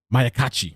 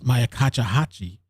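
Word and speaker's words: Myakkahatchee: This was Josh Benson on Twitter, and he said Justin Rogers TV stopped by the Mayakachi. I'm saying it right? No, it's not Mel. It's Mayakachahachi Environmental Park and noticed what appears to be the sheriff's office chopper circling.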